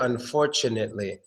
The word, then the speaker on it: unfortunately: you think it's unfortunately we don't make the T sound there we actually make a CH sound unfortunately unfortunately yes we make a CH sound so pretend that t is a CH unfortunately unfortunately unfortunately we